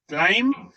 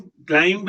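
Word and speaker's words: climb: This is क्लाइम, ब नहीं बोलेंगे, क्लाइम नॉट क्राइम, क्लाइंब नहीं, क्लाइम क्लाइम, ब नहीं प्रोनाउंस करेंगे.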